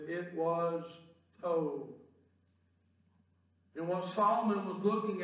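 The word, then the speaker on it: טוב: Now in your outline this morning, I put in parentheses Hebrew word there pronounced as tov. It's spelled T-O-V, but the V is pronounced as a V.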